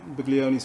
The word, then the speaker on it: Buglioni: Speaking of the unknown, would you know about this unbeaten fighter that Frank Buglioni's fighting, the Chinese fighter? The G is silent.